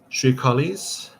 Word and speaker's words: Shrikalis: Shrikalis. I think I know how to pronounce these. It's going to be Shri and then their individual names, but let me do the pronunciation guide. Shrikalis, Sri Talmeng, and Sri Baril.